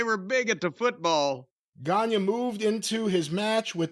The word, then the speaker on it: Gagne: Be sure to key your eye on that boy Gagne and pronounce it in caps g o n y a. Gagne.